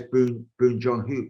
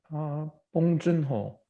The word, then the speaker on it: Bong Joon-ho: is a writer in the same way as Boon Joon-ho is that, did I pronounce it in the right way? Did I? Bong Joon-ho.